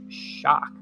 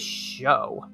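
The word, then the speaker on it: Shough: I think it's pronounced like shock. I thought it was show.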